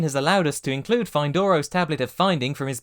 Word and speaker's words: Fyndoro: Findoros, or maybe Findoros, it's a Y.